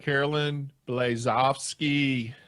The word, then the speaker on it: Caroline Blazovsky: Caroline Blazovsky.